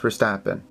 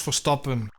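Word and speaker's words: Verstappen: This time it will be on Max Vstappen. The stupid American is mispronouncing his name. It's Max Forappen.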